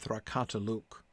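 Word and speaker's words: thrakatulûk: Durbataluk and Thrakataluk have a stress on the last syllable.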